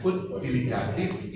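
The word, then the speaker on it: Ut diligatis: Ya saja ya bacanya put deligatis.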